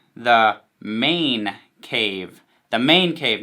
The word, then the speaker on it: Mane: would be called the main event and it's kind of it's spelled ma any like your man main you know but it's a play on main event like welcome to the